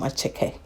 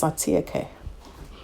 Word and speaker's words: attiéké: The name, it sounds like it's attiéké. Well, but yeah, it is a French word anyway. So you go with the French pronunciation.